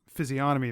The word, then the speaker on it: physiognomy: Physiognomy, I think, is like parts of the face and body. Physiognomy? Physiognomy, that's what I'm looking for. There's a lot of silent letters in that one.